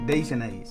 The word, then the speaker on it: Dijonnaise: Dijionnaise? That's how they say it. Dijonnaise.